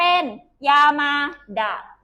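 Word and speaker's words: 山田: ใช่ ไหม คะ พระ แต่ เวลา ออก เสียง นาม สกุล เอ้ย ออก เสียง คำ ตัว พระ นะ คะ ถ้า อยู่ ท้าย ของ ตัว อักษร อื่น มัน จะ ออก เสียง แบบ นี้ ค่ะ ลูก ชอบ เสียง เป็น ยามาดะ นะ คะ เป็น ดาบ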